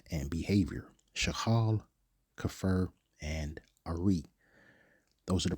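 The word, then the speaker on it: ארי: Ari, or we would pronounce it as Ariyah, meaning generic lion, mature lion.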